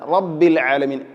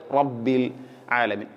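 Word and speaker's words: رب العالمين: ആളുകളിലും കണ്ടുവരാറുണ്ട് ശ്രദ്ധിക്കുക അതുപോലെതന്നെ റബ്ബിൽ ആലമീൻ റബ്ബി അല്ല റ റ റഇനെ കനപ്പിക്കുകയാണ് വേണ്ടത് റബ്ബിൽ ആലമീൻ അതുപോലെതന്നെ മറ്റൊരു കാര്യം വളരെ ഗൗരവത്തിൽ ശ്രദ്ധിക്കേണ്ട ഒരു കാര്യമാണ് ഇവിടെ ഇൻഷാ അള്ളാ റബ്ബിൽ ആലമീൻ എന്നതിലെ ലാമും ഐനും പല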